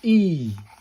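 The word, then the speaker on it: い: This is called I pronounced E. Pronounced like the E in eel.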